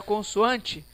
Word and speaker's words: consoante: Vai responder assim que quando eu escrevo a palavra consoante, eu pronuncio assim, ó. Consoante. Se eu pronuncio assim, os meus N's, eles somem. Se eles não têm som, apenas nasaliza, ó.